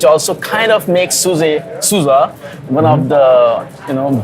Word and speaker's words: SUSE: Alliance and marketing at Suzy did I get it right Sue's us Sousa we have to be we're gonna have to look at that video again Sousa not Suzy right Sousa rhymes with Appaloosa Oh perfect so first